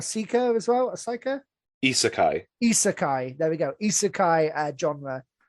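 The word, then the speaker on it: isekai: correctly um a seeker as well asaka isakai isakai there we go isakai genre um again of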